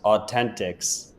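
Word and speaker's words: AU10TIX: or something like that it's au10 tix I think it's pronounced Authentics aent ah that makes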